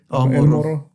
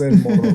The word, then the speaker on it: All Morro: All Morro. All Morro. Okay. All Morro. All Morro. So if you need a it's tow, English, the letter all. All. I thought it was El Morro, but yes.